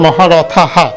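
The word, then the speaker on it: মহারথাঃ: কেন রথাহা হচ্ছে, এখানে একটা বিসর্গ আছে এবং বিসর্গটার সাথে, বিসর্গ জানি আমরা শব্দের এক বাক্যের যদি শেষে হয় হয়ের মতো উচ্চারণ হয় এবং বিসর্গের সাথে একটা, সেই জন্য কিন্তু ওই হয়ের সাথেও আকারটা মহারথাহা।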